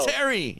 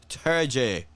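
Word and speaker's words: Terje: todd terry yeah yeah todd terry you know i'll say no no todd turjay and i'm like oh to all the other guys todd turgie i never knew how to pronounce that by the way well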